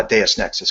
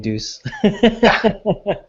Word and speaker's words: Deus Nexus: so that's where uh deus nexus came from nice yeah now i know how to pronounce it correctly i uh i was always saying deuce so um do you